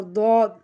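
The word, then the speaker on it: ضاد: তারপর দদ, দদ আমরা যেভাবে উচ্চারণ করব।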